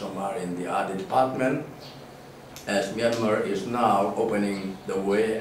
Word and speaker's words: Myanmar: In fact, Burma is the pronunciation given by the British. The original name is Myanmar. Myan is very fast, and then Ma is very strong.